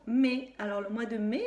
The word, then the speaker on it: mai: Il s'écrit avec 3 lettres, le M, le A et le I. Parce que le A et le I, ça fait le son A.